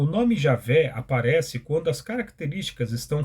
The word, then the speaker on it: Javé: pela forma e aveh ou Javé que é a pronúncia mais próxima do original o tetragrama vem do